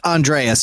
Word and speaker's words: Andreas: And also it's Andreas, if you want to just say it right. What did I say? Andres? You said Andres?